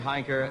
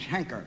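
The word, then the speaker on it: Heinker: By the way, I believe my name is Henker. H-E-N-K-E-R, Henker. You pronounce it Henker? Well, that's what they call me, Henker.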